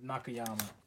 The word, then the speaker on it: Nakayama: Nakayama? Is that how you say it? Yeah, Nakayama.